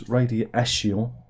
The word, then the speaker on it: Radiation: was um it was radi asio which is the French pronunciation of this album by merilan um yeah